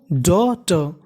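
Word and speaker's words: daughter: code आया हमारा जीएसटी जीएसटी को पढ़ना है हमें ट यानी हमें जीएसटी को क्या पढ़ना है ट और एयू को पढ़ना है हमें औ क्या पढ़ना है और डॉ ट डॉटर डॉटर का मतलब पुत्री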